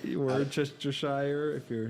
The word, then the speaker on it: Worcestershire: to Shear sire wish to share your songs Worcestershire wish to share what's the share yeah I don't get that at all no I like it I like Worcestershire sauce yeah Chester sauce Worcestershire or Chester Shire if you're not from New England I feel